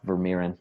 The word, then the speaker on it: Vermeeren: what you really need to succeed now the author of personal power mastery any final thoughts for our audience well I guess - one last name is pronounced ver Miran but that's okay it's cool everybody gets it